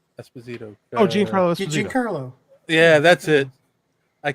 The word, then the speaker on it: Giancarlo Esposito: Giancarlo Esposito. Giancarlo. Yeah, that's it. I didn't know how to pronounce it.